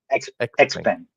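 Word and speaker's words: XPeng: How do you pronounce this? Xen Xpang.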